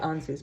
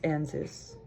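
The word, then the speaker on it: Ansuz: it um answers yeah I always want to say ansu's but it's ansys um yeah like the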